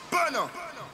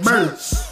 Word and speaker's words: Berna: Berna! Get the lamp clock out! I know I said it right, Berna.